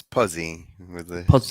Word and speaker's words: Pozzey: pronounce your last name it's puzzy very short o yes all right cool